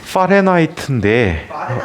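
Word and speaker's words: Fahrenheit: 문제 때문에 독일 뿐이거든 독일어로이 사람의 이름을 표현해 볼게요 파레나이트인데 f로 하는 것은 우리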